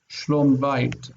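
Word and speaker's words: שלום בית: Shlom bait. Shlom bait. Shlom bait. Okay, shlom bait, because the first syllable becomes distant. This is near, and so this reduces.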